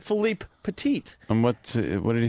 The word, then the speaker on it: Philippe Petit: Most people say Philip Petit, so I purposely was trying to say his name right. So I said Philippe Petit.